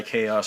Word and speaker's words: Khaos: I was going by Chaos for a while, and that's what a H and a KHAOS. H is silent.